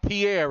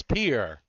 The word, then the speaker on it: Pierre: South Dakota yeah yeah Pierre Pierre that's right it's not Pierre it's Pierre right exactly yeah and I'm